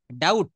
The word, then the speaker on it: doubt: হ্যাঁ, ডাউট দেখেন বানানটা DOUBT, এখানে ডাউট না, কিন্তু এখানে বিটা সাইলেন্ট, ডাউট, এখানে বিটা কি হবে? সাইলেন্ট লেটার, এটা মনে রাখতে হবে।